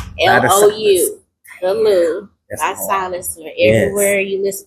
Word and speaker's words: Thalou: The Lou is spelled THALOU. The Lou.